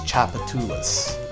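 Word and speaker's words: Tchoupitoulas: I believe it was Chapatulas, is how you say it. But it's not spelled in a way that makes it easy to, like, sound it out.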